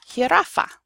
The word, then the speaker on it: jirafa: The J is pronounced like a H.